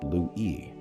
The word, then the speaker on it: Lewy: The rest developed dementia with Lewy bodies, and pronounced Lewy, or multiple system atrophy.